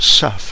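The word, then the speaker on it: CEF: as Cisco Express forwarding or CF pronounced SEF in the industry so you can use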